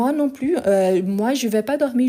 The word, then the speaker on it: plus: je dis plus donc quand on a cette idée de négation on ne prononce pas le S donc tu vois un peu plus de café sens positif non je ne veux plus donc dans le sens